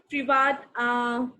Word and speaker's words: Privat: Okay, next we have Privat. So could you please pronounce this name?